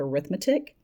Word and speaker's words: arithmetic: number, these are called arithmetic sequences. Right? I know that looks like the word arithmetic, but in this case, the way this is used, it's pronounced arithmetic sequences.